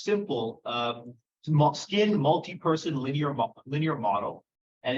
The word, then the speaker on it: SMPL: It's pronounced simple, skin multi-person linear model.